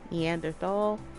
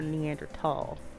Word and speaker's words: Neanderthal: preference a preface and there's no h sound when it's pronounced in french and german it's something when i